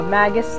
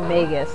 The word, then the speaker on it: Magus: theme I don't know I call him Magus I think his name is actually megus but n it yeah I think his name he's actually pronounced megus but his theme I've